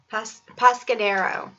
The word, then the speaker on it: Pescadero: Pescadero.